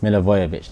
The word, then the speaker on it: Milivojevic: Milivojevic. I don't know how to say it. Milivojevic.